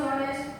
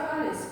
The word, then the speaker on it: honest: How do you pronounce honest? Is it honest or honest? Honest. When do you pronounce? Honest. H is silent. Silent. H is silent.